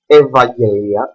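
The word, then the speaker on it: Ευαγγελία: L when follows Vel for instance evangelia that is a name you see we have a Epsilon Epsilon I mean and follows a v that is the letter Alpha that is why we pronounce over here this Epsilon plus Epsilon and or when there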